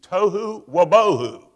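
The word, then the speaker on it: תֹהוּ וָבֹהוּ: was formless and void, the Hebrew reads tohu wabohu. It rhymes.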